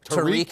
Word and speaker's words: Tariq: The other Tarek, although he doesn't pronounce it Tarek. Right. What's it called? Tariq Abdul-Masih. Yeah, but it's spelled the same as yours.